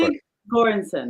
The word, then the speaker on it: Ludwig Göransson: Pronounce it for me. I know you're an expert. Ludwig Göransson.